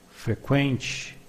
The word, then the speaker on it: frequente: As you can see, in Portuguese, the U after the Q is not pronounced, but we have some words with Q, Q, U, where the U is pronounced.